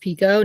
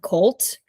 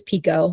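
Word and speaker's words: Picoult: jod Pico fun fact her um last name is pronounced Pico not pult um I have been ripped apart in my comments many times by pronouncing her last name wrong it is Pico like pico Deo so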